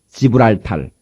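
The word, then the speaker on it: Gibraltar: 1492년까지 스페인 영으로 스페인이 통치하고 있던 저 유명한 지브랄탈 발음을 잘해야 되겠죠. 지브랄탈 한번 해 봅시다.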